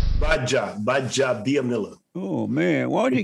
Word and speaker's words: Gbaja-Biamila: how was me kabir baja amila the former nfl defense defensive did i say your last name right baja by job dianilla oh man what are you getting normally the g is silent so you take okay